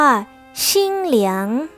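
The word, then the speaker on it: 清凉: B Bird นะ คะ อ่าน ว่า ชิง เหลียง ชิง เหลือง มี ความ หมาย แปล ว่า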